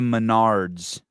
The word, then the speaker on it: Menards: Go to Menards, which rhymes with retards, and you can get their medium brands on sale for better quality.